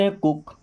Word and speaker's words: hook: Okay, COOK, इसको हम पढ़ते हैं कुक।